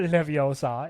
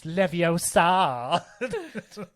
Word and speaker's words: Leviosa: You gotta really draw out the ah. Oh, Wingardium Leviosa. It's not Leviosa. It's Leviosa.